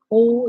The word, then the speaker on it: kohl: But anyway, yeah, I was talking about sourcing coal. Coal is spelled Kohl. Coal.